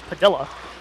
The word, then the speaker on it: Padilla: SB says that it's pronounced Padilla. It most certainly is not. It is Padilla.